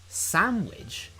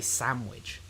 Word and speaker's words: sandwich: So then the N turns into an M kind of because that's easier to say.